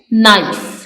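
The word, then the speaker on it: knife: हैं a rapper next नाइफ नाइफ में के साइलेंट है हम सेकंड लेटर को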